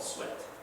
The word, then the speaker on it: suet: It's called suet. Not s u e t, that's the way you spell it, but s u e t, suet, right?